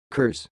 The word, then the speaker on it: currs: The word you are watching is sounds like curse. Curse.